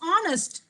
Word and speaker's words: honest: It's not honest. It's honest. Honest.